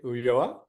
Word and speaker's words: Ulloa: going to learn all about Investment Banking and pronunciation in Spanish so I want to introduce to you uoa and he is managing director of uh m&a